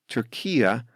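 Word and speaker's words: Türkiye: wants English speakers to call his country turkia which is how Turks themselves say it and as you can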